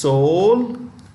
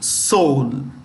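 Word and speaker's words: Seoul: point of view multiple exams actually it's capitalist soul and its president is um this is pronounced Within silent E Soul you call it Soul consequently it's easy to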